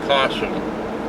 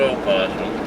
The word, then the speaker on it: possum: The only possum in the United States is pronounced possum, not opossum.